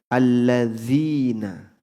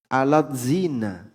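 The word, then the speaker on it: الذين: karena transliterasi itu nanti cara pengucapannya beda misalnya alladzina Ya itu transliterasinya kan a l l a d ya z i n a alat zina dibaca alat zina alladzina dibaca alat zina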